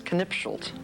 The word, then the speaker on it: Knipschildt: His name is Fritz Knipschildt.